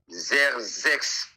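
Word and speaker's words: Xerxes: d'azirus qui signifie Aman qui signifie qui signifie zerex ça s'écrit X e r X e s principalement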